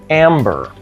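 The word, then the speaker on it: Æmber: Now, in order to do that, it requires 6 amber, and that is spelled A-E-M-B-E-R, and the A and the E are kind of attached when you see it on a card.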